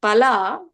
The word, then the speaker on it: phala: If we are pronouncing it with a rasva, alpa prana, okay, instead of mahaprana, if we say pala, palam, palan, like that, okay, then it becomes meat.